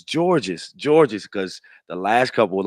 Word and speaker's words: Georges: he saw me on, people were pronouncing my name wrong, Yeah. and so he was like, "It's George's. I wanted to make sure I get it right."